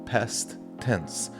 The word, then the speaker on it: past tense: Às vezes na pronúncia você pode colocar o T do past com o T do tense, formando um T só, né? Past tense.